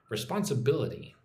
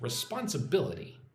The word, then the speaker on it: responsibility: So, the emphasis goes on the fourth syllable there. Responsibility. Well, kind of like the the second and fourth. Responsibility.